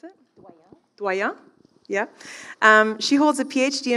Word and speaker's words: Doyon: Is that how you pronounce it? Doyon.